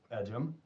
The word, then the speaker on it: Ejim: how do you pronounce your name he goes edum I like we've been mispronouncing your name for two years and I